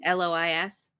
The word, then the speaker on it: Lois: how to say it l-o-i-s she's great she's a Minority Report which I just rewatched oh l-o-i-s uh-huh Lois Lois like Lois Lane sailor was stabbed to